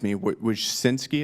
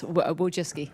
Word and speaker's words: Wojcicki: Miss Wojcinski, is that how you pronounce it? Yes, Wojcicki.